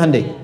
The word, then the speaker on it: Hyundai: Hyundai kan dibacanya Handai ya kan.